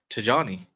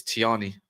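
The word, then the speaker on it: Tijjani: Tijani first name's Nigerian, so the J is pronounced Tijani. Tijani. But I think that's put it onto the onto where you can pronounce names and it says it's Tiani.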